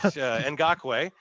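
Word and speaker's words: Ngakoue: Okay, it's spelled Nagkui, but Ngakwe.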